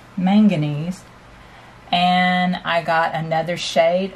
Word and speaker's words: manganese: So I took this same white, or this same mixed color, and I added a little more of the manganese. I think I said it wrong. Manganese.